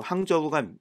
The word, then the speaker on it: 항저우: 그 당시 표현을 2만 오늘날은 항주 바로 항저우가 됩니다 올해 아시안게임 열리는 도시죠 그래서